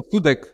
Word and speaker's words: Sudek: and please help me with the pronunciation ysf sudak y sudak yeah uhhuh am I saying it pretty pretty well I guess so sudek yeah there you go so is just over